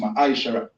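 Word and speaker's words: מעשר: to 10, being tenth in the Hebrew and is pronounced ma'aishara.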